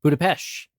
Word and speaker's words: Budapest: The correct answer is Budapest, or as some pronounce it, Budapest.